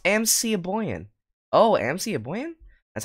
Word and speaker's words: Mikaboyan: But this mod was made by Mikaboyan. Pronounced MC Aboyan.